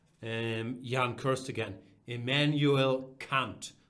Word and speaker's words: Kant: young cursed again Immanuel Kant that's how it's pronounced in German it's not Kent it's